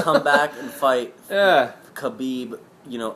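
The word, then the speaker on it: Khabib: think the one of the next Champions is kabib that's exactly how you say it um way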